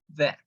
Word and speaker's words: that: Ó, quando você pronuncia a palavra that, a língua sai. That. Ela sai um pouquinho aqui em cima, tá? É aquele... É o fonema, o som mais difícil para o brasileiro.